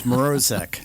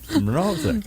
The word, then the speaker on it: Mrozek: But it's Mrozek. Mrozek. Okay, I did pronounce it wrong, and I've been practicing.